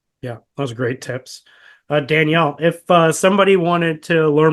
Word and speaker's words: Danielle: But essentially, most of my handles are just my name, Danielle. You can Google it, find me. is spelled, and it's Danielle, not Daniel. So Danielle.